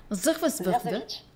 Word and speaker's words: Zierzevic: Zierzevic.